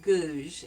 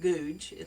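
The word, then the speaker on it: Goudge: selection it's by Elizabeth gouge and it's not pronounced did you it's not pronounced gouge but it's pronounced as if it has z h on the end and she spent Summers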